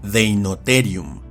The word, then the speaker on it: Deinotherium: Tanto la RH como la TH se pronuncian y transcriben eliminando la H y pronunciando fuerte la consonante. Así, por ejemplo, tenemos este género que se pronuncia y castellaniza como Romaleosaurus, o a este otro que se pronuncia y castellaniza como Deinotherium.